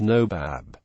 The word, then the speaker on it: Nawab: naib or Deputy quote in some areas especially Bengal the term is pronounced NOAB this later variation has